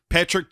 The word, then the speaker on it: Patric: Patrick doesn't have a K in it, so you and I will get to this, I'm sure, in a sec, but we've always pronounced it Patrick.